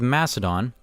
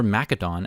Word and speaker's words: Macedon: that's Egypt then we have Macedon uh or macadon as this game pronounces it uh here's Italy